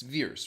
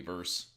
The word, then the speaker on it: Vers: were introduced to veers it's veers right that's how they were pronouncing it which pissed me off because later should be technically verse yeah anyways years years